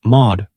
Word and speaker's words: Mawhood: During a stay she made in late autumn with the Mawhoods, pronounce Maud, please, in Norfolk.